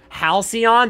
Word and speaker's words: halcyon: Halcyon, that's how you say it.